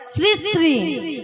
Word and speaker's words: শ্রী: আরে বলেছি শ্রী শ্রী। ভালো করে জিভ ছিলবে, তুমি জিভ ছিলবে ভালো করে। উচ্চারণ করতে পারবে না খালি বলে। হ্যাঁ বলো শ্রী শ্রী।